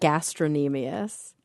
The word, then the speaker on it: gastrocnemius: We always pronounce that gastrocnemius. We didn't pronounce the k.